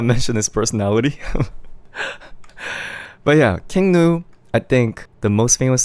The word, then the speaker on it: King Gnu: It's spelled with G and U, King Nu.